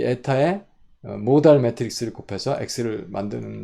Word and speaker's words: eta: 그래서 X1, X2를 리니어 컨비네이션에서 이걸 에타라고 있습니다. 뭐라고요? 에타, ETHA, 에타, 에타, ETA라고 읽어도 될 거예요.